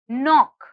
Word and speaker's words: knock: the next word is knock knock knock if you hear the letter k is silent the next word is